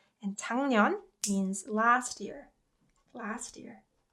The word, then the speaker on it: 작년: So rather than enunciating 작년, you can instead say 작년. And 작년 means last year. Last year. 작년. So you can pronounce it like 작년.